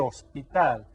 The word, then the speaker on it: hospital: El hospital. And just like hermano and hija, we don't pronounce the H.